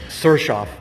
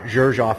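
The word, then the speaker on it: Xerjoff: the house of serchoff i always say that name wrong but it's serchoff not gershoff and they correct me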